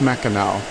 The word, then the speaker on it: Mackinac: But it was settled by the French, and AC was pronounced Mackinac. Now, when the British came along and established the city of Mackinac City, they spelled everything with an AW. It's still pronounced Mackinac.